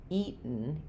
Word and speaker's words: eaten: difference here is that this is going to be stressed in the first part. Eaten. Eaten. And you're not going you're not going to hear um any vowel before the N.